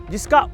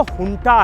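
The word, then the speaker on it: junta: फौज यानी मिलिट्री जुं जिसका उच्चारण तो हंटा है लेकिन लिखते हैं जे यू एन टी ए इसलिए कुछ लोग इसे जुं और जो जानते हैं उसे हंटा कहते हैं तो एक तरफ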